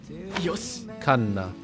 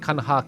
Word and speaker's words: Kanna: Kanna. Not Kanha, Kanna. I thought it was Kanha, but yeah, Kanna.